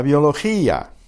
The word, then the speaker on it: biología: La biología, la biología. Notice the accent on the I in gia separates those two vowels into two separate syllables.